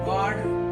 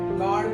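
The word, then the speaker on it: guard: डी इसको क्या पढ़ेंगे गॉड गॉड पढ़ेंगे इसको गॉड गड नहीं गॉड इसमें यू का प्रोनाउंस नहीं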